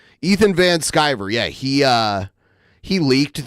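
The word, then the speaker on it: Van Sciver: Ethan van shrier um van skyver skyver skyver that's how you say it Ethan van skyver yeah he uh he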